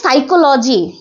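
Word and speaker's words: psychology: মনোবিজ্ঞান মনোবিদ্যা মনোবিদ্যা সাইকোলজি এই সাইকোলজির উচ্চারণা আমরা যখন নিউমোনিয়া পড়েছিলাম তখন নিউমোনের আগে একটা কি এসেছিল পি এসেছিল না ঠিক একই ভাবে সাইকোলজির সময় আমরা তো বলছি সাইকোলজি কিন্তু এর আগে একটা কি আছে পি আছে তাইলে পি তারপর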